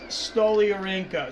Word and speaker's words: Stoliarenko: fighting anacondas okay so it's Julia stoliarinka so that's close all right I think I can pronounce her name and out of the